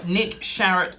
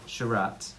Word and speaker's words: Sharratt: I like it but it rhymes with parrot and carrot and it's on his